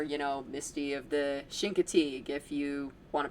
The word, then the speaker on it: Chincoteague: So yeah, Misty of the Continent or you know, Misty of the Chincoteague if you want to pronounce it correctly.